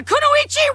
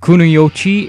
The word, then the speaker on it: kunoichi: Clash of a Kunoichi rivalry! Excuse me, that is a mispronunciation. It's not Kunoichi, it's Kunoichi.